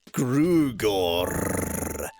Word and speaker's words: Grugorr: Hawker Chief Grugor. Grugor. You need to roll the. I know you can't, but that just means you can't pronounce the name correctly.